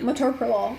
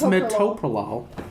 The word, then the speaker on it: metoprolol: for no reason too metropolo like it's not that is it metaprolol meta bio no it's metoprolol it's metoprolol that's how i say people people correct